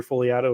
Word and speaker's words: Fogliato: And you can find me, Fogliato, if you can figure out where the silent G is in there.